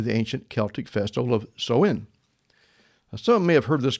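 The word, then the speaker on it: Samhain: Now Halloween's origins date back to the ancient Celtic festival of Soen. Some may have heard this called Sam Hayne, if I could pronounce it right, but so is closer to the original name.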